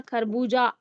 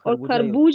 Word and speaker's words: खरबूजा: खरबूजा आ करके था। खरबूज नहीं था कि हम ज के बाद ह का नहीं प्रोनाउंस करें। खरबूज खरबूज तो होता ही नहीं। खरबूजा ही होता है।